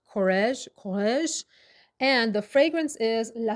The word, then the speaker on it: Courrèges: The brand, I believe, is pronounced Courrèges, and the fragrance is La Fille de l'air, which I think means the girl of the air.